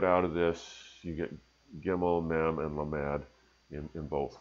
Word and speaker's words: gimel: Hebrew letter, which is gimel. Is the way I pronounce it, or gimal.